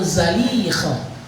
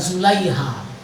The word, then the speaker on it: Zalikha: Mohon maaf kalau di literatur kita banyak bacanya Zulaiha. Itu di bahasa kita. Kalau dalam bahasa Arab itu Zalikha. Yang paling benar cara membacanya Zalikha, bukan Zulaiha.